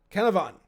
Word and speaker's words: Canavan: How do you say Paleo? Canavan? Canavan. You said it better than me.